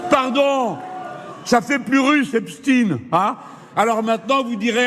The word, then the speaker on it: Epstein: nous qu'on à LCI, on prononce Epstine tout simplement parce que c'est comme ça que lui-même prononçait son nom.